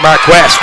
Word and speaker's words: Marquez: So Marquez called for the steps written like Marquee, but he pronounces it Mark West.